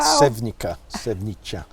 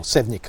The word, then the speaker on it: Sevnica: Sevnica, or Sevnica, I think is the correct pronunciation.